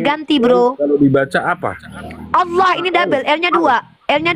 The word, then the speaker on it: Allah: Saya tanya sekali lagi nih, bacaannya mengikuti kaidah bahasa Arab karena itu adalah nama Tuhan dalam bahasa Arab. Baca dulu kalau enggak Allah. Allah karena L-nya double.